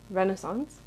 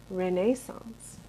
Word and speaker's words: Renaissance: a history of Renaissance, which in America we say Renaissance. Here they say Renaissance. That's how they say it. I am not comfortable saying Renaissance, the way they are. And so I'll try to like half American it, half British it.